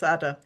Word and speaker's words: AADA: So if you're looking for how to pronounce us, it's AADA.